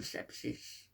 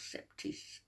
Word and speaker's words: sepsis: on that and on the sepsis what she calls septis um you think you